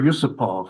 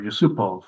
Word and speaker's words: Yusupov: Um, did have a later disciple, the Soviet GM Artur Yusupov, or Yusupov, I believe it's pronounced.